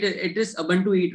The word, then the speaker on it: Ubuntu: It is Ubuntu Eat, right? So actually, it's pronounced as Ubuntu. Ubuntu. Okay. Yes. So it's an African term.